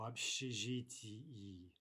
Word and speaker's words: общежитии: Again, note that ending ee, that's 2 syllables if we're speaking very distinctly. В общежитии.